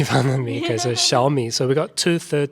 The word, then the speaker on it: Xiaomi: So small in Chinese is xiao, and that's the first part of Xiaomi, the word xiao.